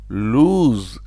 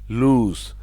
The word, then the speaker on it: lose: not l e but you still pronounce it with an extended o like lose with a z sound lose lose means to